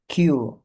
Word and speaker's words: queue: Nah, ini bacanya Q.